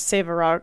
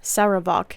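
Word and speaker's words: Sarevok: to ball such as saok saok that's not how you say his name sarok and I would like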